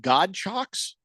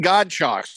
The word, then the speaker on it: Godchaux: name right, but Devon Godchaux, is that his name? I don't know how to pronounce his name. I'll be honest. Devon Godchaux. That's what we're gonna call him. Like nunchucks, but with God.